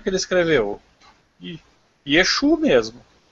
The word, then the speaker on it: Yeshua: E não é Yeshua. Escreve Yeshua, mas não sei porque lá no alfabeto deles eles pronunciam Yeshu.